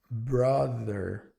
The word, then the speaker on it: brother: Assim como na palavra mother, father, palavra brother também tem esse som de V, que lembra um D, mas não é.